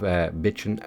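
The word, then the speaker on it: Bijin: After that we have Bitchin' All-in-One. That is how it is pronounced apparently.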